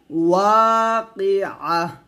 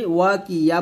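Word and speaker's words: الواقعة: আমরা এখানে যে বলতে করি ওয়াকিয়া বলি, মানে কফ জের কি ইয়া জবর ইয়া উচ্চারণ করে। এখানে তো এটা কিন্তু ইয়া না, এটা হচ্ছে আইন, আইন হা জবর আহ, এরকম উচ্চারণ করতে হবে।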